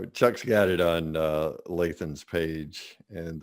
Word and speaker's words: Lathan: Chuck's got it on Lathan's page, and that's Lathan as in Nathan, but with an L, just so you'll know that we're saying it correctly.